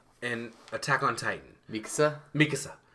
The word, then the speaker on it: Mikasa: attack on titan visa Mikasa so people use Mikasa which is the actual Japanese translation and they'll do Mikasa Mikasa which is the way to put emphasis on things goddam you stop clapping